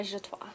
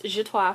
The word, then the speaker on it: Zshatwa: It's Zshatwa for the record with a Z, not a J.